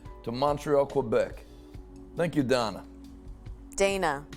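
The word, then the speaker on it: Danah: Thank you, Donna. Dana. No, Donna. D-A-N-A-H. Donna. Dana. Donna. Dana. It's not D-O-N-N-A-H. Dana. Donna. Dana. Like Donna. Like in a European accent.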